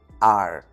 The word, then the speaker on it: are: Lembrando que é o r do inglês, aquele r enrolando a língua. R R are.